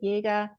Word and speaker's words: Jaeger: So that's how you would pronounce it, Jaeger.